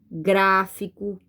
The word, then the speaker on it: gráfico: Qual é a sílaba forte de gráfico? Gra. Porque, ó, tem um acento, ó. Gráfico. Então, eu falo com mais força, certo?